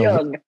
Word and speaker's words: Jung: I just learned how to pronounce Jung. So Jung.